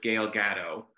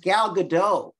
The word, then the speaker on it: Gal Gadot: asked could you talk about the meeting with Gail Gatto I probably said that name wrong I don't know I'm not sure what